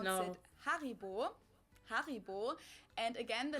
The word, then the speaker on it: Haribo: We pronounce No. it Haribo.